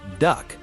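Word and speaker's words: DUKW: D U KW, pronounced duck.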